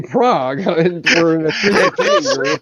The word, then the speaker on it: Prague: Prague, Oklahoma. Wait. You got to forgive me when you say Prague. We're in a It's spelled Prague, but they actually pronounce it Prague here.